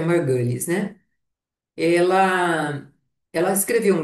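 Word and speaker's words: Margulis: As mitocôndrias e os cloroplastos, eh, segundo a a Lin Margulhes, ela, eh, a pronúncia correta é Margales, né?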